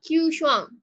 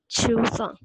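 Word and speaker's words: Chew Shuang: Can we have Shuang Tang or Q Shuang? Q Shuang. Is that correct? Yes. It's Chu Shuang. Sorry. C-H-E-W. Sorry. It's Chu Shuang, pronounced C-H-E-W.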